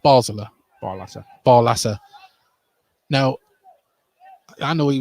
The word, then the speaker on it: Basler: And now gets it's Basler, sorry. Will McGowan fouled there. And the free kick just in front of the Gateshead dugout. And towards a half hour, still 0-0. But it is pronounced Basler.